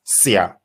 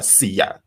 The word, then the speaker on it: Siya: So what they commonly do in Durban is pronounce it without the I. So it's Sia or Siyabonga, as opposed to like